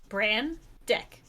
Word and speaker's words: Brandeck: Is it Brandax. Brandax? Brandax. Brand deck. The common Brandax. pronunciation. Like brand muffin. Deck. Of Brandeck. Brand deck.